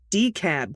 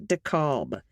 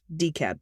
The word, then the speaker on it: DeKalb: team you mentioned the peachtree dakob airport it's pronounced d-cab county not dekalb the county will keep coming up so now you know from someone who lived there her whole adult life decap county attached is my pod pet miss claws